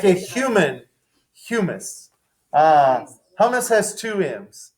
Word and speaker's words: humus: see what we got humus i i'm saying humus i would bet stocks on it not hummus hummus is made of chickpeas it's like a